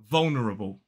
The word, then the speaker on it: vulnerable: in the UK so the first pronunciation is vulnerable vulnerable four syllables the stress falls on the first so it's V the